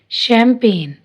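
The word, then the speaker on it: champagne: फॉरन, resign, design, assign, कंपेन, जी silent है। कंपेन, शैम्पेन, align, sign, फेन, फॉरन।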